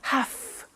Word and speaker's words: have to: pronunciation i have to notice i don't say v i say f have half it becomes have to have the two becomes in pronunciation have to have to okay so i have